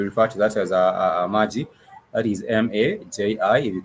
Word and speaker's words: maji: It has two syllables, maji.